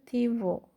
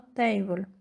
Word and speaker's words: Thibault: Sí, Table, y se pronuncia Tibo, y no Table. Tibo, y se pronuncia Tibo, y no Table. Es un nombre francés.